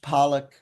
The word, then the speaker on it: Polyak: There's Percy Polyak, but again, it's pronounced Pollock.